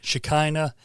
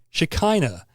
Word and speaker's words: Shekinah: Some people say Shekinah. That's probably the correct pronunciation, but I've heard it said both ways.